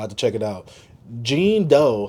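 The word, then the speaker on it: Jean Deaux: Gene Doe, I think that's how you say it. Gene Doe, because you know it's DEAUX.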